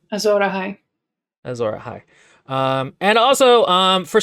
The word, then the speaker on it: Azor Ahai: She thinks Stannis is like the prophet Azor Ahai, or what is it? How is it pronounced? Azor Ahai.